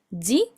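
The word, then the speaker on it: ぢ: Acá Ya dos sonidos distintos que no son di y du, sino que son ji y zu.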